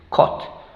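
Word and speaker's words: caught: o co co co gh no pronunciamos Y la t final cot cot entonces tenemos t y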